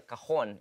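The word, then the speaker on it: cajón: So this thing that you're playing is actually a cajon. It's pronounced as C-A-J-O-N with an invisible J.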